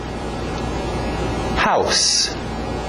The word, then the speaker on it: house: House. Cuidado com esse S no final, não é um Z. House existe, é um verbo. To house, dar abrigo para alguém. Nós queremos house.